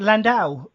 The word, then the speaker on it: Landau: Juliet landow now welcome to the show Juliet landow is am I pronouncing that correctly yeah that's right awesome good